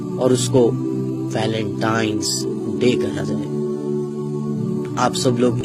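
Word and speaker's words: Valentine's Day: नाम पर गौर करें इसे जो आम कहा जाता है यह वैलेंटाइन डे है लेकिन हकीकत में जो इसका प्रोनाउंस एशन है वह है वैलेंटाइंस डे य वैलेंटाइन वाला दिन है और उस बदबख्त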